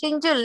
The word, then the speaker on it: Shinjul: His name is Shinjul, no? Shinjul, correct. How do you spell it?